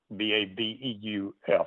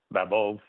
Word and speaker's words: Babeuf: I mean, the Manifesto of the Equals was presented by a political journalist, Francois Babeuf, Babeuf, and I think the F is not pronounced.